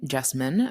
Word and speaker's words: Jessamyn: myself and that is my name jine rhymes with specimen but with a J I'm a budding sociologist